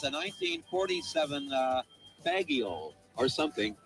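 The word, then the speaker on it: Fageol: It's a 1947 Fagioli. or something. It's spelled F-A-G-E-O-L. That's the name of the bus. Actually, it's pronounced Fagial, but I just thought I'd throw that in.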